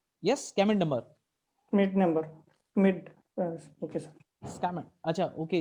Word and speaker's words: Schmidt: Schmidt. Okay, sir. Scammon. Acha, okay. You are actually you're not pronouncing S.